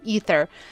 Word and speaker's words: aether: Keep saying aether, but I know the game pronounces it ether.